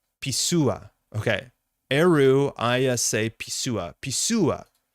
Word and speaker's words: Pessoa: Pisua, not Pessoa.